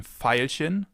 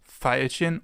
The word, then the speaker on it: Veilchen: It can either be pronounced like the F, as in Veilchen, Veilchen, or like a V, as in Violine, Violine, violin. This makes V a little more difficult because it can be pronounced in 2 ways, either V or F.